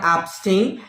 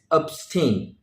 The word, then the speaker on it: abstain: today's list is abstain follow the pronunciation of sting it's not abstain it's abstain what does this mean